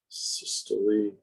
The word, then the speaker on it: systole: Systole, diastole. I like when people pronounce the words correctly, because then I have a better, I feel better that they understand material.